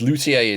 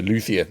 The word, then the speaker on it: luthier: It is Luthier in Europe because basically this is the people who made lutes. That has then obviously changed pronunciation over the years to Luthier in America. So the two pronunciations are equally valid. Just depends on where you are in the world.